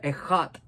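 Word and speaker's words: אחד: se escribe eshat, pero se pronuncia ejat en hebreo.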